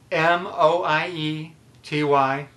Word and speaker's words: moiety: were John's word of the day is moiety M o ie t Y moiety six letters three syllables it's a noun and it means half